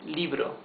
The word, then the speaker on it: libro: no rotto let's see here's a smooth R Libro not Libro it's Libro Corto okay so well